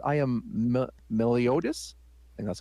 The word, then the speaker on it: Meliodas: are you me the elf says i am meliotis and that's how you pronounce it also known as the slayer of